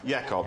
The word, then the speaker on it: Jacob: Yakob. Jacob. Jacob. It's spelled into a cinema. Jacob, but pronounced Yakob.